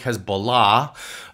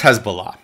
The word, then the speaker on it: Hezbollah: Now this has many names, Hezbollah, but it's often mispronounced. It's more like Hezbollah.